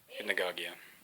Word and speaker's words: hypnagogia: Hypnagogia. That's how you say it, or how I say it anyway. I've heard people say it many different ways.